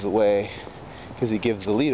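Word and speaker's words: Huet: in net and when your name should rhyme with a net but doesn't as is the case with the way then instead his name is the way cuz he gives the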